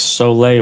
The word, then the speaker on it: sole: It was sole water. It's spelled S O L E, like soul.